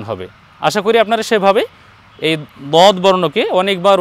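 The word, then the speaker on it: ث: আমরা প্রথম পর্বে বলেছিলাম যে দুইটি হরফ নরম হবে এই যে তিন নুক্তাওয়ালা সা আর এক নুক্তাওয়ালা জাল উচ্চারণের স্থান একটাই এক জায়গা থেকে উচ্চারণ হবে দুইটি বর্ণ জাল আমরা নরম করে উচ্চারণ করব আর একটি বর্ণের ব্যাপারে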